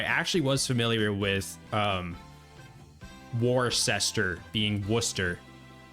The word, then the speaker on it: Worcester: So, I actually was familiar with um Warcester being Worcester. We say like Worcester in Massachusetts though. It's like w wor which probably is not how you pronounce it in the UK.